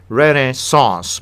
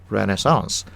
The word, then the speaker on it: Renaissance: American pronunciation रेनेसांस, British रेनेसांस। Usage tip, इट्स a powerful word, use with care.